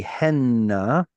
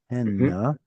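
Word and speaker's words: הֵנָּה: In biblical Hebrew, they feminine will be henna, which is spelled with a tzere, henna. Third feminine plural, henna.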